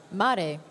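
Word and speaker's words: märg: Mare. Voilà. Oh, but it looks, voilà. It's spelled M-A-R-G. Mare. It's the bone marrow.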